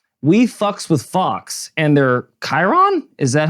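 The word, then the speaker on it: Chyron: we with Fox and they're Chiron is that how you say it Chiron yeah new word I just learned today c-h-y-r-o-n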